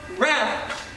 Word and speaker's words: wrath: And pronounce wrath to rhyme with bath, right?